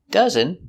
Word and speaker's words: dozen: Dozen is spelled with an O, but pronounced dozen.